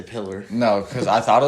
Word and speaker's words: Pillar: sound stupid um so what's the name kevin pillar that's how you pronounce all right sorry i didn't say pillar no because i thought it was pillar but